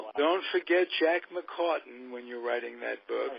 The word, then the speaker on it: McCartan: Goaltender goes down, and the star of the Olympics, Jack McCartan, am I pronouncing that correctly?